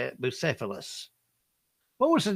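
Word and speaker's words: Bucephalus: Busilus. What was the name of Alexander the Great? Remember him? He had a famous horse. Was it Trigger, Sea Basket, Pegasus, or Bucilus?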